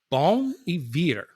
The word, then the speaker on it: Bon Iver: Pronounced the way it's written. Okay. Okay. So the name of the band and the way it's pronounced is Bon Iver.